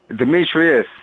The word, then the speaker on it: Demetrius: am i pronouncing my is a Demetri or Demetrius Demetrius okay Regis yeah that's probably